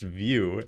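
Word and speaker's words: Vue: view doesn't make sense come on it's it's pronounced View and it's a front end that's not maybe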